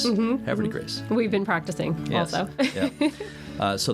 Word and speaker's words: Havre de Grace: differently in French, but everyone down there says it really fast, like it's one word, like Havre de Grace. Havre de Grace.